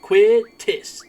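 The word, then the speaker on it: Quistis: Then there's Quitis. Quitis. Quitis. Quitis. Quittis. That's how you say it.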